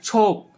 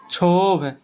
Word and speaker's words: क्षोभ: और जैसे हम पढ़ते ना छोप, छोप से मतलब शुरू, छोप, जैसे छोप, इसको शुद्ध रूप में क्या लिखेंगे? क्षोभ। ये हो गया।